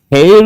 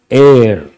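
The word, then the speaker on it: heir: And hair is not correct. H is silent. Air.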